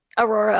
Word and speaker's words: Aurora: Did I pronounce that right? Aurora, Ohio, yeah.